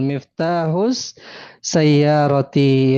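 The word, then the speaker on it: مفتاح السيارة: Iya, bacanya gimana Ibu? Miftahu sayaroti. Betul, Miftahus Sayyarati ya.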